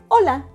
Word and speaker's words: hola: it's quite simple right do you know why H and WL is in red Lexie the first silent letter in Spanish is the letter